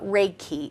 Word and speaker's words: Reiki: Reiki yeah can you tell the audience what Reiki is yes and am I saying it correctly